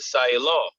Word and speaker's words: Siah Law: mean she was like how do you say that the name on that on that poster so i said say law she was like no